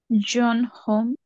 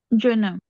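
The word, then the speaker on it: jeune homme: John home. হোম না, অম। Um. একসাথে বলবেন John. জনম। Jonam.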